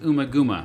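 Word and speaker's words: Ummagumma: their fourth studio album Also may be pronounced umaguma released by Harvest records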